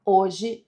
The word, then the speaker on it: hoje: Bom, gente, aqui nós temos na letra A, a palavra hoje tem quatro letras, mas apenas três fonemas, porque não pronunciamos a letra H.